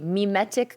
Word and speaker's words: mimetic: And my first question for you is, did I pronounce that properly? Mimetic communication.